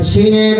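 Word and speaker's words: شين: তিনটা নুক্তা দেন বলেন শিন শিন জিহ্বার মাঝখানটা উপরে তালুর সঙ্গে লাগবে শিন শিন সবাই বলেন শিন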